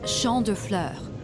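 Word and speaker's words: Champs de Fleurs: just like I imagine Champs de floors how do you say that it's Shand Flur it means Field of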